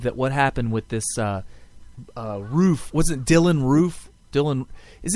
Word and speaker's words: Roof: I guess the second O is silent. All right, so Dylan Roof. Right. Roof.